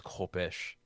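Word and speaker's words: khopesh: called uh oz mumtan's kopesh and kami actually told me how to pronounce that it's kopish yeah it doesn't really matter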